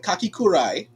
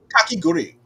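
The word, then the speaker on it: Kakegurui: Oh, I always pronounce this wrong, but Kakikurai twin Kake Gurui. Kakiguri.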